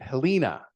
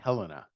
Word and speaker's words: Helena: um I've seen movies where it's pronounced they pronounce it Helena it's Helena anybody from Montana knows it's Helena and we all think it's hysterical when it